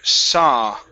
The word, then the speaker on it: saw: good one more time 30 30 okay very nice next up is the word saw okay so the aw here only creates an ah sound instead of sau very good okay let's